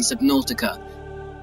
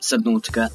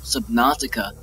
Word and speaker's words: Subnautica: Welcome back to another video on the channel, and today we are playing Subnautica. Yeah, I said it, Subnautica, not Subnautica, because it's not spelled like that or pronounced like that.